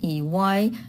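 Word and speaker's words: Дурсль: And in English, it's Dursley, which I read as Dursley with the sound. But here they translate it as Dursl. It actually is very hard to pronounce for native speakers, for Russian native speakers, because of Dursl.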